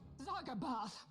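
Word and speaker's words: Zargabaath: Zargabath.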